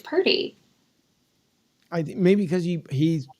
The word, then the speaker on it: Purdy: he would like to know how do you pronounce Purdy obviously the San Fran quarterback oh pert it's Purdy I maybe because he he saw your your